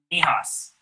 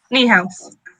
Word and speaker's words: Niehaus: So, Dr. Nihas, and I hope I pronounced that right. Close enough. What was that? Close enough. Close enough? Okay, how do you pronounce it? Niehaus. Niehaus, okay.